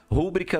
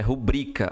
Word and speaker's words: rubrica: Rúbrica não existe, é rubrica. A sílaba forte é o bri.